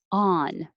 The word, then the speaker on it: on: american ah on so the difference between the vowel in 24 and 25 24 fah my lips are back jaw open ah but for ah 25 on my jaw is open but the lips are straight on 26 hail when you